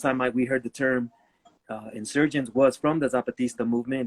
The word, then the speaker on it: NSRGNTS: So insurgents, it's spelled NSRGNTS without the I at the beginning.